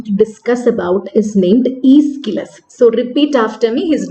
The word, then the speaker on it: Aeschylus: we are going to discuss about is named ischilus so repeat after me his name is okay you have to write down his name to uh learn the spelling of the name correctly but it is pronounced ischirus so i already told you about these competitions